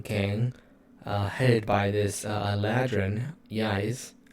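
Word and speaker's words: Ysé: So, these people, this Citrine gang, headed by this Ladrin, Yais, or it's Eyes, but it's spelled Y-S-E, but it's Eyes, who's the leader of this gang, have infiltrated Clan Horn.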